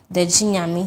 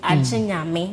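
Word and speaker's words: Gye Nyame: Jinyami. People call it Jinyami, but me, when I'm pronouncing it, I like to add the A to it, Jinyami, which means "except God," and it symbolizes the omnipotence of God.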